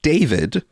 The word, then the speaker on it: D4VD: She went missing 2 years ago and a year after she was uh missing, she was found in D4VD, otherwise pronounced David, singer David, his Tesla vehicle, in several pieces.